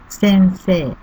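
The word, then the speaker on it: せんせい: Sensei. The third character se is followed by I. The last character, pronounced like se.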